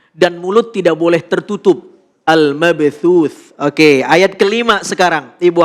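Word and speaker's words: المبثوث: Cara membacanya adalah ketika waqaf keluar nafas sedikit. Sehingga al-mabthuth. Al-mabthuth. Ada terasa keluar nafas.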